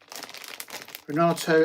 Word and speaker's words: Renato: Is it Renato? They pronounce. Yeah, it is Renato.